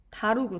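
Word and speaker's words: Dharug: 자, 몇몇의 경우에 뭐와 같은 이게 발음이 어떻게 했더라? 다루구 다루구. 어, 이거는 그냥 언어 이름이에요.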